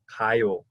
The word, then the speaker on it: 가요: The word for to go in Korean is 가요. 가요. 가요. 가요. Good. 가요. And that it starts with a sound that's kind of like a soft K sound or a very soft G sound.